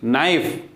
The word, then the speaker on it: knife: जैसे KNOW, कनो नहीं होगा, KNOW नो, KNOCK नॉक, तो के और एन जब आता है तो के वहाँ पे साइलेंट होगा। KNIFE नाइफ, ठीक।